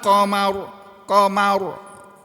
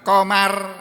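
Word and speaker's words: قمر: Fa idza bariqal basar wa khasafal qamar. Cucu. Qamar, bukan komar, bukan begitu. Komar kan nama orang. Pak Komar, mantan kepala dinas saya dulu. Awal-awal saya masuk di Sampit. Bacanya bukan komar, komar.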